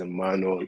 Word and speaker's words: Emmanuel: make this brief but like my name is Emmanuel I'm away I go by the name and